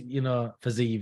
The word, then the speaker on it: Fiziev: Is that Fizez? Is that what you say his name? Fiziev. He's, Fiziev, that's it.